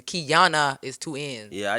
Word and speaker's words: Keyona: Like you can I already know I'm gonna see Keyona at such, and that's how people say my name, Keyona. But my name is pronounced Keyona.